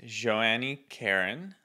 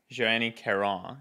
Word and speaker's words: Joanie Caron: a special guest today it is Joanna Karen or no Joanie Caron is that the best way to pronounce it that's a bit closer yes yes say it